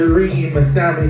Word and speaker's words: Rime Salmi: Please pronounce it Rime Salmi. Think of the dream, and that's what she is.